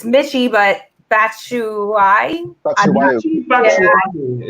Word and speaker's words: Batshuayi: Batshuayi is actually how I pronounce his name.